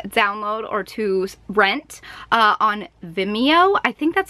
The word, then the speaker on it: Vimeo: finally available to download or to rent on Vimeo I think that's how it's pronounced it's VI m EO Vimeo calm the